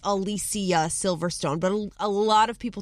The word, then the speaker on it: Alicia Silverstone: Looking at other celebrities whose names you might be pronouncing wrong. I've always known it's Alicia Silverstone, but a lot of people through the years